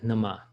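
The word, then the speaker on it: नमः: You'll hear some people pronounce this as Namaha, another A at the end. But the teachers I follow are very clear about this, that it's Nama.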